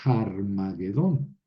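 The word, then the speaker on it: Ἁρμαγεδών: llamado en hebreo Armagedón como es espíritu rudo en griego pues tengo que producir pronunciar harmagedon Claro que si yo soy americano o soy eh alemán y Leo Aquí voy a leer harmagedon har porque la H suena en inglés y en alemán en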